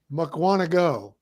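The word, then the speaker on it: Mukwonago: Mukwanago.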